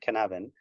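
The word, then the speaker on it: Cynefin: he's Welsh and his framework is called the canavan framework um canavan is C pronounced and spelled Cy NE f i n so pronounce it how you like but he likes to call it canavan and essentially it's a framework for looking at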